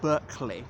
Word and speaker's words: Berkeley: showing you Berkeley spelt Berkeley but pronounced Berkeley as in Berkeley castle in Gloucestershire or George Berkeley the philosopher I'm not sure why